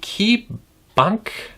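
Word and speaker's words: KeyBanc: Last week, KeyBank, B-A-N-C, Bank, I'm assuming that you just pronounce it like bank, KeyBank.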